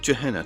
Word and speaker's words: Gehenna: It's pronounced Gehenna, not Gehenna.